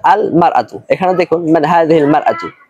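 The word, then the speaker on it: المرأة: তখন উচ্চারণ হবে এরকম আল মারআতু। ইমরাতুন শব্দের পূর্বে যদি আলিফ লাম যুক্ত হয় তাহলে উচ্চারণ হবে আল মারআতু।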